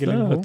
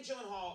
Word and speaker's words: Gyllenhaal: The name Gyllenhaal, I never know if I'm pronouncing it correctly. It is a Swedish name, is it not? It is a Swedish Oh, I think neither of us. Gyllenhaal. The only two places that is pronounced correctly, my last name like you did just now, is in Sweden and in IKEA. I really have to say, that is actually the pronunciation of my last name.